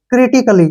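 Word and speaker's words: critically: यहां पर जो है ए का उच्चारण हमने नहीं करना है इसको पढ़ेंगे हम सी आर आई टी आई सी A double L वाई क्रिटिकली क्या पढ़ेंगे क्रिटिकली ठीक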